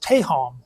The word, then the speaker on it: tehom: Also, the Hebrew word for deep here is tehom. It's spelled T-E-H-O-M, and it has a meaning of